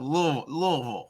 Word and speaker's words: Louisville: And you pronounced Louisville right. That's good. I've practiced that. Louisville.